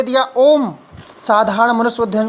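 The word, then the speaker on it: ॐ: ओम का उच्चारण करते रहना। ओम शब्द 3 ध्वनियों से मिलकर बनता है, आ, उ, म।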